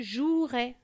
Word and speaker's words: jouerai: verbes du premier groupe il ne faut pas oublier le e muet exemple je jouerai nous skierons vous voyez